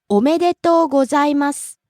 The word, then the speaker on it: おめでとうございます: The first word, omedeto, rising on the second syllable me, stays high. Second word, gozaimasu, rising on the second syllable za and falls on the last syllable su.